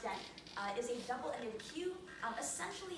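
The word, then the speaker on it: deque: So, a deck, pronounced deck, is a double-ended queue.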